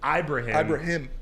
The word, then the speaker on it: Ibrahim: And on the topic of Mo, Ibrahim, I learned how his name is pronounced. I've been calling him Ibrahim too. Sorry, Mo. Ibrahim.